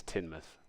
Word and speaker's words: Teignmouth: The first town I will tell you about is Teignmouth. Notice that there's a big difference between the way the name is spelled and the way the locals pronounce it. Teignmouth is a small fishing town and industrial port.